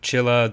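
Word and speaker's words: Csilla: little bit weird uh i think it's based on hungarian with chilla the capital planet being the hungarian word for stars i'm also applying that kind of pronunciation to chaos chapla all those other words so they all start with cs which then becomes cha for whatever reason though i keep calling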